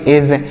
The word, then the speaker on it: edge: EDGE तो इसे क्या पढ़ेंगे, इसे पढ़ेंगे एज, EDGE तो इसे पढ़ेंगे एज।